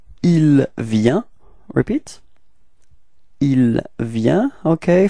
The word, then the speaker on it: il vient: So the masculine form, it's il vient. Repeat. Il vient. Okay. Final T is not pronounced, so you get the same form as for je and tu.